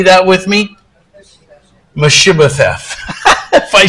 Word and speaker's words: Mephibosheth: We're going to look at a guy whose name was Mephibosheth. That's a big, big word, four syllables.